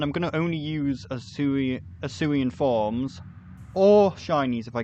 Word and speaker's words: Arceus: Because nobody's going to call it Arceus because it's pronounced Arceus. They just changed it because it sounded too much like ass.